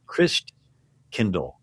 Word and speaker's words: Christkindl: And the German pronunciation of Christ child is Christkindl. Christkindl means Christ child, like kindergarten, kindercare, kind means child.